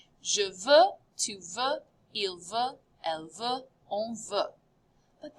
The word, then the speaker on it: veut: He wants, il veut. And notice the subtle difference. Je veux, tu veux, exactly the same spelling. Il veut, same pronunciation, but spelled a little bit differently.